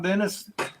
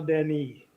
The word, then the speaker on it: Dennis: filming some boo crocodile Dennis laroo crocodile Den yeah we we gave him that name La last week but you need the French pronunciation of my name it's crocodile Deni Den crocodile well feel free